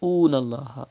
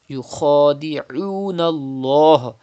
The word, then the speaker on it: يخادعون: Do not say oon Allah. If you say oon Allah, that means you are reading hamza. It is not hamza. It is ain. Yukhadi'un Allah.